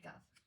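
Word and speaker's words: كاف: There are 2 letters, Qaaf and kaaf. They have a similar sound, and the difference between them is that Qaaf is pronounced heavily and kaaf is pronounced lightly.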